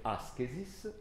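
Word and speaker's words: ἄσκησις: si legge askesis, da cui deriva la nostra parola ascesi, elevazione, rinuncia, eccetera, ma che in origine voleva dire, preso dalla ginnastica, allenamento.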